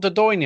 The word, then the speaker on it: Dordogne: I was so close, like thinking, is it not Dordogne?